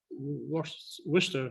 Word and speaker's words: Worcester: seven hills foundation in worcester worcester which is the waiver to pronounce it in massachusetts massachusetts in america and